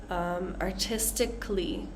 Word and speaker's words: artistically: So usually when we have words that have this A-L-L-Y, usually, not always, usually we're not really going to pronounce that A sound. It's going to just sound like artistically, especially when we have a C-A-L-L-Y.